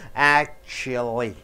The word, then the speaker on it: actually: For example, actually. How do you pronounce that? Actually. Act should be stressed more.